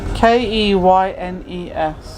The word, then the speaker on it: Keynes: Keynes. Keynes. Keynes. Of course. Same as Milton. Spelled the same as Yeah. Milton Keynes.